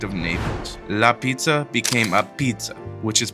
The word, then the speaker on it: Apizza: In New Haven, it isn't pronounced the way it's spelled. Ah-beetz didn't come from marketing.